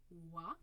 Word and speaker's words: Hoy: But in class, you get to call me Madame Wa, as the French would pronounce.